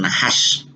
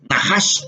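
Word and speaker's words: נחש: que no solamente se pronuncian nahas porque nahas es el término más común o general. Yo puedo decir najas en hebreo cuando estoy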